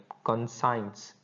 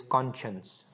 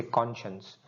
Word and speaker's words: conscience: they pronounce it like consigns. It is not consigns it is conscience. You will say conscience and the meaning of this word is the ethical and moral moral sense of right and wrong.